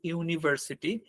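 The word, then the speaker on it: university: vowel word দিয়ে শুরু হইছে হওয়ার পরেও কিন্তু ইউনিভার্সিটি এইটা কি উচ্চারণটা কিভাবে হইছে ইউনিভার্সিটি এই উচ্চারণটা আসছে কোন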